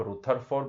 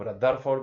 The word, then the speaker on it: Rutherford: लेकिन एक साइंटिस्ट ऐसे भी थे, रदरफोर्ड, आपको जो नाम देना है, आप रुथरफोर्ड बोल सकते हो, आप रदरफोर्ड बोल सकते हो, जो बोलना है, प्रोनाउंसिएशन आपके ऊपर मैं छोड़ता हूं, है ना।